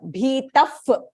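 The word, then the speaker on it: भीतः: Bhita Bhitaf Pranamya.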